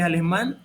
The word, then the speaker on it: alemán: Que alemán es una palabra aguda, porque ahí cayó el acento en la última sílaba.